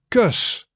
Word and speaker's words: kus: Then we go to the from kus. And kus is a kiss. And actually it's pronounced similar to dirt, but shorter.